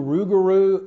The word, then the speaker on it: Rouxgaroux: came up and said let's do rugaru and spell it with x's so we actually came